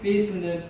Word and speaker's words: faith: 페이스는 P가 아니라 F이기 때문에 아르깁스를 살짝 깨물어주면 발음이 정확합니다.